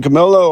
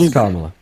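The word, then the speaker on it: Kamala: So, we were put in a situation where you have to pick between Camila or Trump. Camila's Her name is pronounced Kamla.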